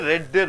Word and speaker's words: read: ரீடு ரெட்டு ரெட்டு, வாசிக்கிறேன் வாசித்தேன் வாசிப்பேன். மூணு பதங்களாக ஒரே மாதிரி இருக்கிறது, ஆனால் இது உச்சரிப்பு மட்டும் ரெட்டுன்னு சொல்லணும்.